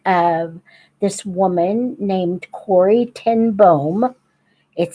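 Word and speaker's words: ten Boom: It is the story of this woman named Corey Tenboom. It says boom, but boom is how you pronounce it in Dutch.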